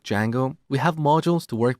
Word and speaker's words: Django: popular framework called D Jango so it's spelled with a silent D and it's pronounce Jango